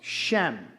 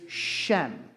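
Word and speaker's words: שם: the word name is Shem. That's I know it's pronounced s h a m e. I don't know why it is, but that's how it's spelled in the English, but it's actually pronounced shem.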